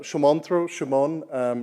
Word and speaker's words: Sumantra: So I'm Sumantra, rhymes with come on, which is what most of my colleagues are saying to me.